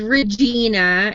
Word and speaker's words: Regina: to spell that but it does rhyme with vagina yeah and and just to address like last night people were talking about how to pronounce it and that it it actually comes from the Royal um talking about the queen and it is Regina if you're talking like Victoria Regina or Elizabeth Regina it would be Regina